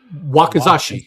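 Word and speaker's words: 脇差: The short katana, if I'm pronouncing this correctly, is called a Wakizashi.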